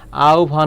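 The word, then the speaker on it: আহ্বান: এখানে একটি বানান রয়েছে আহবান যদি বলা হয় এর উচ্চারণটা কি মনে রাখবে হ এর স্থলে ও বা রসু হবে আর বয়ের স্থলে ভ হবে তাহলে উচ্চারণটা এখানে কি হবে আও ভন হবে এখানে ও বারু যেকোন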